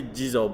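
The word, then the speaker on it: 地蔵: And it tells the story of how this, I'm going to say Jizō because that's the Japanese pronunciation. It's easier for me to say that pronunciation.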